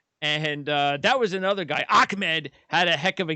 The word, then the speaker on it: Ahmed: They want to make sure they weren't pronouncing it Ahmed when it's Ahmed.